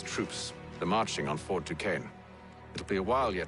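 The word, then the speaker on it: Duquesne: Rallying the troops and then it's on to Fort Dukane, I assume.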